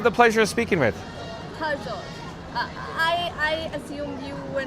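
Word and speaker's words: Harjot: Harjo. I I assumed you were not able to say my name right. It's H A R J O T. Yes. Har. Hara.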